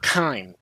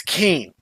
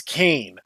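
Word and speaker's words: Kain: Japanese voice actors did his name is not K it's ke his final weapon is Abel's Lance he's a traitor so he's cane that's his naming convention but they call him K because that's how his Japanese voice actor said it so it's wrong don't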